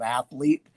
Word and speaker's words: athlete: The word is athlete. which is three syllables, people.